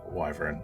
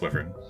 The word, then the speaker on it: wyvern: Fuck everybody who pronounces it wyvern. I think I did this last episode. You did. Okay. Yep. Yeah, it's wyvern. Wyvern. It's wyvern.